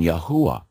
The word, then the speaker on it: Yahweh: God's name is Yahweh. Yahweh, yeah. There's actually a closer pronunciation, Yahuwah. But Yahweh works.